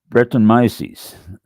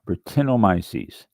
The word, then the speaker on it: Brettanomyces: Brettanomyces. That is, Brettanomyces. Okay, I put the accent on the wrong spot. Brettanomyces.